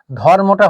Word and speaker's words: ধর্ম: একই রকম করে ধর্মটা হয়ে গেছে ধরম, ধর্ম, আপনি উচ্চারণ করে দেখুন ধর্ম, ধর, এই রয়ের পরে কোনো স্বরধ্বনি উচ্চারিত হচ্ছে না, এটা ব্যঞ্জনান্তিক বা বদ্ধাক্ষর।